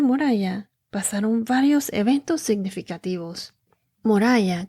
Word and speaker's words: Moriah: Moriah, creo que lo estoy pronunciando en inglés, pero se escribe M-O-R y latina A-H.